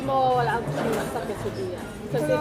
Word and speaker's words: quesadilla: So it's Quesa, cream, queso. yeah. Tapos yung dila? Yeah. Dila? Dilia. Dia. Dia? Yeah, the right pronunciation of quesadilla.